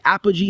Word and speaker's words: Apogee: Tell me about, I think is Apogee, is that the correct way to pronounce it? Yes, sir.